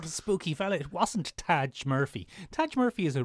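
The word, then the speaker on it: Tadhg: Murphy M I'm I'm pretty sure that's pronounced Tajin t a d g h Taj Michael spend time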